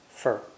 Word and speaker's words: for: are leaves and school the word for is unstressed and pronounced fer fer Shur now let's add